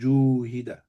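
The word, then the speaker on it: جُوهِدَ: You can't have a dhamma and a fatha and an alif next to each other because you can't pronounce it. So it's purely for recitation purposes that alif changes to a waw. So it becomes juhida.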